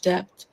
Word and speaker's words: debt: Doug, I think she was pronouncing the B in debt, like not making it silent, so debt or something like Hmm.